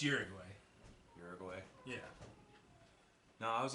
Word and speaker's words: Uruguay: It's Uruguay.